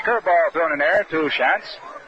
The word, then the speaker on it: Shantz: Mother Shantz, S-H-A-N-T-Z. And Art explained to you a little while ago the difference between Shans of Boston and Shantz of Philadelphia.